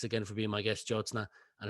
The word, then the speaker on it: Jyotsna: own book, links below to connect with I've mispronounced your name again. Apologies. it's Jyotsna. Jyotsna.